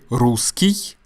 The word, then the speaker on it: русский: Now, when you say русский, японский, немецкий, польский, the last letter and the last sound, although it's not as clear, but it's there, is the y sound.